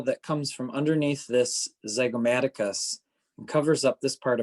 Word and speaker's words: zygomaticus: this has a really cool name it's the zygomaticus z-y-g-o-m-a-t-i-c-u-s the zygomaticus so the zygomatic head of the